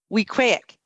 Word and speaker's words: Weequahic: here I go Camp Weequahic there you go you got it I got it it rhymes with mosaic yes Cole tell us